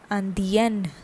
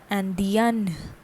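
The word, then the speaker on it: Indienne: Okay, for femina an extra N and E is added to what we have for the masculine and the pronunciation changes and becomes Andien. Andien.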